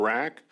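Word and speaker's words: RHAK: Resident Hunters of Alaska we pronounce our acronym rack I'm here today um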